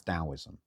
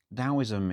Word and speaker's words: Taoism: And for me, that was Taoism, spelt with a T, but pronounced with a D. Funny Chinese word. So Taoism is a beautiful bridging philosophy.